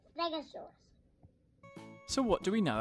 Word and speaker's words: stegosaurus: brachiosaurus stegosaurus stegosaurus how do you say that again stare go saw russ can you say it with me stare go saw russ stegosaurus so what do we